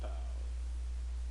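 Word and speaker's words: parlent: The ENT of the third person plural, il ou elle, with S, is not pronounced, but it must always be written.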